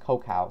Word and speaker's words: Kokau: This is not a spelling mistake. This name is pronounced Kokau. So yeah, pronounce it correctly.